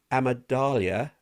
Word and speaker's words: amygdala: I can't do that," or "I better not put myself in that position," because the amygdala, I can't say Amygdala. that. Amygdala. I like how you're pronouncing that. Amygdala, because it is smaller,